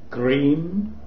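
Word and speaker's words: Krim: this practice we pronounce the Mantra cream is better because the Mantra C I mean k r i Am cream is a powerful Mantra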